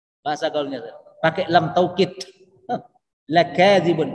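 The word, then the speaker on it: لَكَاذِبُونَ: Lakadzibun, lanya pendek bacanya Pak Haji. Jangan lanya panjang. Kalau lakadzibun, kacau. Kalau lanya baca dibaca panjang berarti artinya tidak.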